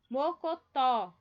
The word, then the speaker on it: mocotó: Próxima, em O. Mocotó. Aqui, ó, é a mais forte, é o tó.